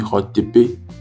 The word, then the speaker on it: Hotep: Donc, Hotep, en réalité, se prononce Hotepe lorsque l'on s'adresse à une personne, mais lorsque l'on s'adresse à une foule, d'accord? Ou bien à plusieurs personnes, on dit Mi Hotepe.